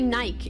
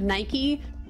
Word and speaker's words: Nike: Brits say Nissan, and they say Nike instead of Nike, and they say like Pista instead of Pista, and like there's what else do they say?